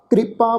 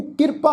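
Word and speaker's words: ਕ੍ਰਿਪਾ: फिर पप्पे नूं कन्ना, ये शब्द है जी कृपा, इनू किरपा नहीं उच्चारण करना। कक्के नूं सिहारी रारा पप्पे नूं कन्ना इस ढंग नाल उच्चारण नहीं करना। जिहड़ी कक्के नूं सिहारी आ वो रारे नूं सिहारी लग के उच्चारण होएगी कृपा, कृपा प्रभंग।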